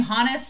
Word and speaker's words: Hannes: And they pronounce his name Hannes, and they pronounce I've been calling her Mikasa, but they say Mikasa, and I'm like, I don't know what's what. I'm the worst at pronouncing names. So I'm going to try to say Hannes. I may say Hans.